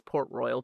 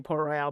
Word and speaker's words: Port Royal: And I think I always say Port Royale, but it's not because it would have an E at the end of it if it was pronounced, it was supposed to be pronounced that way.